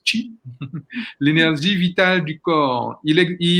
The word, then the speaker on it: qi: Alors, ça s'écrit qi, mais ça se prononce qi.